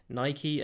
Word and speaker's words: Nike: Obviously, that's how I pronounce it. That's the English way of pronouncing it. I think Americans say it Nike and Adidas, which to me just sounds very strange, but I appreciate you